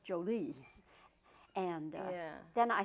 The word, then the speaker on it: Jolie: angelina hi jolie yes the emphasis on the joe jolie joey jolie yes because uh i had heard it always pronounced jolie and uh yeah then